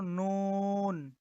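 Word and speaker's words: نون: আচ্ছা, এটা হলো নুন, নুন। এটার উচ্চারণ আমরা বাংলাতে আপনার নরস্যু, আহ, দন্তান্ন রস্যু, দন্তান্ন নুন এর মতো করতে পারবো।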